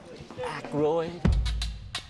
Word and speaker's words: Aykroyd: How the fuck do you pronounce this? Aykroyd.